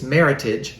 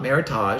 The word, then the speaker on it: meritage: meritage yes so it's it's meritage not meritage so think meritage rhymes with him hemorrhage oh my god man matches with heritage and like like well